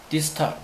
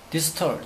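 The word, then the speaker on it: distal: 김차와 관련된 것은 디스탈, 디스텔, 디스텔, 디스털, 디스터. 원래 발음은 디스탈이 아니죠.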